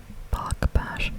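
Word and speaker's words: Bache: I think that's how you pronounce his last name, Bash.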